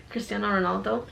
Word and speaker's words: Cristiano Ronaldo: Is that how you pronounce his name? Cristiano Ronaldo? Yeah, Cristiano Ronaldo.